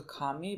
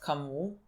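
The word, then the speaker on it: Camus: by Kami I mean they translated somehow in our language to Kami but I think it's pronounced kamu I don't I think it's kamu but like I'm going to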